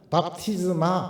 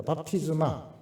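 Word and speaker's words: βάπτισμα: 그 발음은 밥티즘입니다. 밥티즈마 붙이면은 헬라어를 하시는 분으로 됩니다. 밥티즈마.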